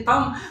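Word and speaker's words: thumb: शब्द को देखेंगे तो वो थंब ये देखिए थंब तो बी यहां पे भी साइलेंट होगी थंब है एक है थी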